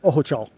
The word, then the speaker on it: Ojochal: Ojochal.